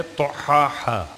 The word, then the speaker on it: طحاها: بناها والارض وما طحاها۔ توئیں سے اور خا سے ملا ہوا ایک لفظ ہے طحاها۔ میں نے اس لیے